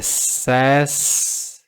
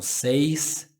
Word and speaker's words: says: Aqui é says e não says. Says. Se não tiver o S é say. Se tiver o S é says. Por quê?